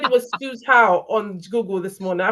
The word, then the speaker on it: Suzhou: Some interesting pronunciation there. It's Dulwich College Suzhou in China. Suzhou, do you know I spent a lot of time on Google this morning? It said it was Suzhou on Google this morning.